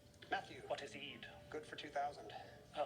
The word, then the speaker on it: Eid: Ramadan with this holiday fittingly it rhymes with feed Matthew what is Eid good for two thousand a holiday 1600.